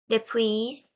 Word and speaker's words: depuis: Depuis mes 6 ans. Je ne vais pas prononcer le S final.